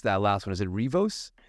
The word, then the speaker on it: Riivos: So Robbie, how do you pronounce that last one? Is it Riivos?